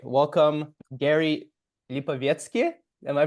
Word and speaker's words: Lipovetsky: all right welcome Gary lipki am I pronouncing that right oh there we go very nice but but you pronounced it like a native Russian speaker I think that's my